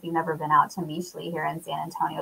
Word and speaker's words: Mixly: If you've never been out to Meesli here in San Antonio, it's spelled Mixly, Meesli.